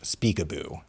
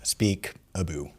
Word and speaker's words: Speakaboo: That's our main website URL, ben.vision, and then just slash speakaboo, and it's spelled how it sounds, speakaboo, SPEAKABOO, like peekaboo. Peekaboo, but Speakaboo, and then you can download it Android and iOS devices.